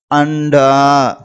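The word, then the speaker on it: अंडा: அப்படிங்கும்போது ஆ டா அண்டா அண்டா அப்படின்னு உச்சரிக்கணும்.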